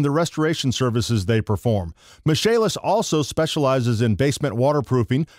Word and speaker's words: Michaelis: for the michalis corporation pronounced michalis spelled Michael is get it Michael is they are fullservice general